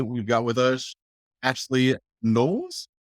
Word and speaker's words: Knowles: And today we've got with us Ashley Knowles? Knowles, yes, you got it right. Okay. Yes. I figured that's how you pronounce it, but I just like question mark because I'm wrong bird.